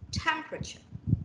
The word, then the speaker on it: temperature: that wednesday okay next temperature temperature okay so you see the first syllable takes the stress temperature okay so when we